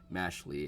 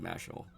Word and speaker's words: Mashle: I say Mashley. I think it's Mashel. I think it's pronounced Mashel, like magic and muscle.